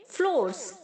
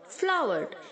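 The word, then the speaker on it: flour: फ्लावर, फ्लावर्ड, फ्लावर्ड, बहुत सारे बच्चे इसे फ्लोर बोलते हैं, फ्लोर नहीं है बच्चों, फ्लावर, जैसे हम फूल को बोलते हैं ना फ्लावर, तो वैसे ही इसे आप प्रोनाउंस करेंगे फ्लावर।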